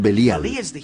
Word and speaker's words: Belial: Belial es una contracción de dos palabras hebreas, Beli y Yaal. Beli Yaal, que nosotros pronunciamos Belial.